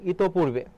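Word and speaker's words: ইতঃপূর্বে: না ইতমধ্যে হবে ইতমধ্যে আর ইতপূর্বে উচ্চারণটা হবে ইত পূর্বে কোন বানানটি সঠিক অভ্যদয় অভ্যুদয় থাকতে পারে।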